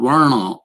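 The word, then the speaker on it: वर्ण: the dalit so so varna this is what the system in india theoretically is called verna is the proper pronunciation it literally means colors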